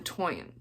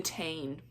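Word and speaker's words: Táin: is non Morgan lellan and this is the toyan the toyan you don't think that that's how that is pronounced and I had to think about that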